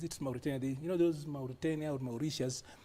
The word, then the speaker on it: Mauritius: Those Mauritania or Mauritius, there's a way we who are British trained have got a problem with T. It should be sh, not T.